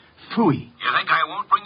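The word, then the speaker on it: Pfui: It can be spelled in several ways. I spell it P-F-U-I. Phooey.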